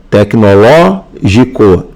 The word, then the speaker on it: tecnológico: Na letra B, tecnológico é pró-paroxítona. A sílaba tônica, ó, é a antepenúltima. Aqui, ó, tecnológico.